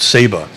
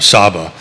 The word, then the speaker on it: Saba: We went to a different island called Saba, or Saba, depending on how you pronounce it.